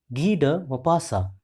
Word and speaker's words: Guy de Maupassant: Once again, listen carefully the pronunciation of this author, Guy de Maupassant.